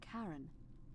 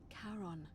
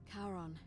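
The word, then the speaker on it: Charon: It's just as you described it, only your pronunciation is a little off. The name you heard wasn't Karen. It was C H A R O N. As in Karon, the fairyman of the dead. Karon, who in exchange for the right coin, helps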